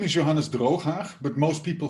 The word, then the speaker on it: Drooghaag: I believe that only when you are either Dutch or Arab speaking, you can pronounce it properly with the ch. Otherwise, it will just hurt your throat.